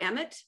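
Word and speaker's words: אמת: But in Hebrew, the word emet means truth, emet. And to spell that in English is E-M-E-T.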